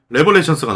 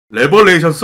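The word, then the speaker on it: Revelations: 그리고 이제 다시 또 1년 뒤에 2011년 11월에 레벨레이션스가 나와. 이것도 발음상의 얘기가 많아요. 제가 레벨레이션스라고 말하는 이유는 바이오하자드 레벨레이션스라고 부르기 때문에 레벨레이션스라고 하는 거예요. 레벌레이션스, 레벨레이션스, 리벌레이션스, 리벨레이션스. 말이 많습니다, 이건.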